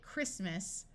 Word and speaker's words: Christmas: its long sound Christ notice that when we go from Christ to talking about the holiday Christmas the t- sound disappears and the ey becomes short Chrome that's a type